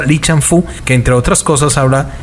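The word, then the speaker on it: 李尚福: para dos academias militares aquí se pronuncia lichampú que entre otras cosas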